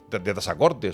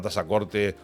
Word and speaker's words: Tazacorte: distinga casa de caza, cuando pronuncias la palabra Yaiza o la palabra Tazacorte o el sustantivo Nausé o otros nombres canarios, pronúncialos con S, por favor, que es como se dan de pronunciar.